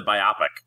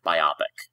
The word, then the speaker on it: biopic: Well, it was meant to be two words, biopic, a biographical picture.